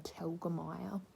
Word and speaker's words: Telgemeier: Raina telgemeer just kidding I know how to say her name I I used to look at it and be like how do you say that name but it's Raina Telgemeier and I got this